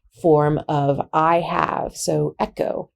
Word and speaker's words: ἔχω: of i have so echo echo and if you actually pronounce this correctly it's like the sound of loch in the scottish loch lo ch so echo